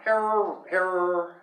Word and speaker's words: Herer: He said it rhymes with terror. Yeah, terror. I know. Herrera.